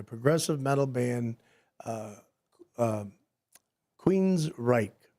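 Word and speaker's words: Queensrÿche: metal band uh uh Queens Reich. That's how you say it. Queens Reich.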